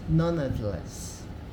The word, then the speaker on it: nonetheless: Aqui, ó, a gente tem essa palavra aqui, ó, nonetheless, nonetheless, nonetheless.